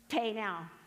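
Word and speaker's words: πεινάω: cracks me up because to remember how to pronounce it I put it in my notes as pay now and that's just it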